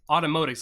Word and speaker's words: Automotics: It's just like automotics, like automotive but with X at the end because it's like the Olympics.